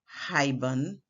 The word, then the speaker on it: haibun: In this word, haibun, look it up by the way, you hear 2 syllables, hai, 1, bun, 2, giving us 2 syllables. However, if we were counting sound units, you would hear ha, that's 1, I, 2, b, 3, n, 4, haibun, 4 sound units.